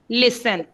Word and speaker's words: listen: लिसन में mostly बच्चे टी नहीं डालते क्योंकि टी इसमें साइलेंट होती है. LISTEN, लिसन.